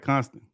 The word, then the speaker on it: Constant: your profile name yeah it's the last name constant yeah I'm pronouncing that right constant yeah that's right all right I see